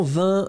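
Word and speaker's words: vingt: Oui, effectivement, vin, V-I-N-G-T, le G est muet. Encore une fois, tous les mots de cette famille-là vont être exactement comme vin. Ça veut dire que 80, bien sûr, ce sera la même chose. 90, ce sera la même chose. Donc, la base, ça va être vin, considérez que le G est totalement muet.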